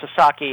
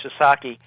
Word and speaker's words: Sasaki: And Joshu Sasaki, and I should make it clear, it's pronounced Sasaki, and Americans and Canadians sometimes have trouble with Japanese names, and it's very understandable. So his name was Joshu Sasaki.